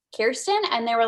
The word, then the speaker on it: Kirsten: and they were like i thought it was pronounced cheese tea and i kind of i don't know i was seeing red because you know my name is kirsten it's about almost the same way and um you don't pronounce it cheese teen fun fact so